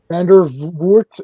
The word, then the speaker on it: Vandervoort: though, and I couldn't believe that was Laura Vandervoort, or I don't know if that's how you say her name. Vandervoort, yeah.